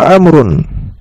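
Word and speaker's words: عمرو: Kalau andaikan tidak ada harakatnya dan setelah ro itu ada wau, maka cara bacanya amrun. Tapi kalau tidak ada wau, maka cara bacanya Umar. Ya, cara bacanya Umar. Dan di sini ada wunya. Maka ini amr.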